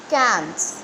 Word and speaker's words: Cannes: दिखाई दे रहा है, इसमें प्रोनंसिएशन के टाइम में S साइलेंट रहता है और C को आप K साउंड से प्रोनाउंस करते हैं. तो आप इसे रीड करेंगे cans. Can, not cans. It is can.